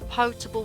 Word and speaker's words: potable: Page 82 on potable water. Yes, that is how you pronounce it, comes from the old French word.